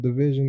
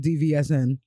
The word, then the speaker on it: DVSN: First of all, shouts to you for telling me how to pronounce that because I definitely was just saying DVSN.